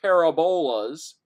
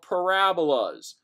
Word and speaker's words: parabolas: graphs a u-shaped curve u-shaped curves are not called parabola z' they are called parabolas matters which emphasis you put on your syllables and so it is